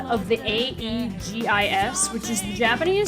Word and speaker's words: Aegis: that her name is based off of is pronounced e-juice or Aid yeah Aegis e-e-j-i-s-s so we bring I think and